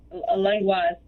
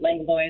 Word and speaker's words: Langlois: Is it Langlois or Langlois? Langlois is the proper pronunciation, but Langlois is fine as well.